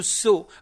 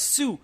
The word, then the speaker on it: sew: so s e w so we we actually mispronounce it as Sue it's not Sue it's so s e w and s o w both are pronounced so so means to stitch